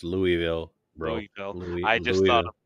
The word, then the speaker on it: Louisville: The Yeah, it's pronunciation, don't do not say Louisville down. It's Louisville, bro.